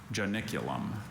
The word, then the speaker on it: Janiculum: Are there any alternate pronunciations? Just the one. Janiculum.